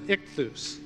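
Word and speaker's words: ἰχθύς: And you pronounce it ichthus.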